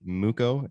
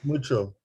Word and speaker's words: Mucho: Is it Muko? Is that how you say it, or is it Mucko? It's mucho. Mucho.